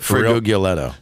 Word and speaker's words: Frigolette: Friguguletto.